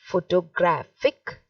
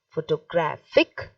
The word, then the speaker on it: photographic: one will be said photographic photographic so the same word with a little change but see how the syllables the stress is changing it is shifting okay so the first one